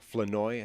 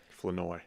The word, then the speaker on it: Flournoy: Flournoy, I think is how they're pronouncing his name now. Flournoy. Flournoy.